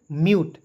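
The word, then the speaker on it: mute: म्यूट पढ़ा जाएगा। समझ गए? एम यू टी ई को पढ़ेंगे म्यूट।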